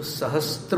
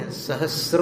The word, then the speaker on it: सहस्र: समझ में नहीं आया तो सहस्त्र नहीं सहस्र है त नहीं है उसम केवल स में र है दूरे सहस्त्र किरण कुरु